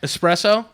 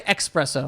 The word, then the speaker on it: espresso: __ ] was that espresso espresso espresso why people say expresso if you say expresso